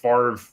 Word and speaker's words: Favre: It's Favre. Favre. You spell it like fava beans.